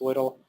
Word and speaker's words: WDL: One such description language is called WDL, WDL, pronounced WDL, and it supposedly was designed to be human readable.